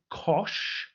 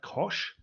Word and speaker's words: cosh: So with this one, you call it cosh, right? Looks a bit like cosine, but it's actually, we're talking about cosh.